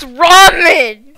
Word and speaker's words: ramen: it's pronounced ramen it's rammy how about you just